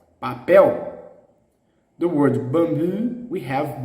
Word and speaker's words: papel: show you the health the strong distressed syllable in the last one for example the word paper papel papel the word bamboo we